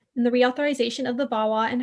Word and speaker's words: VAWA: violence against women act it's often pronounced vawa um this is more